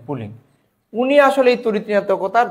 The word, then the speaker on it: Pauling: 1932 সালে বিজ্ঞানী পুলিং, আসলে আমরা বাংলায় লিখে আমি যদি একটু বলতে চাই, 1932 সালে বিজ্ঞানী পুলিং আসলে ইংরেজিতে এটা উচ্চারণটা ছিল PAULING, পুলিং।